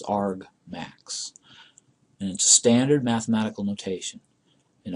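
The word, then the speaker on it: argmax: this is in Ryan this is the word argument and this is the word maximum and the two strung together is is pronounced Arg max and standard mathematical notation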